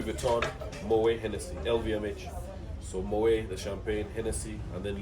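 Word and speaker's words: Moët: It's Moet. Not Moet or Mawet. Yeah, Moet. Moet. Yes. So the T is silent.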